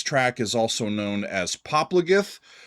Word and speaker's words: Popplagið: It ends with this funky looking, what looks like to me like a D, but Philip has told me that pronunciation is a soft TH sound, so that's how I'm doing it.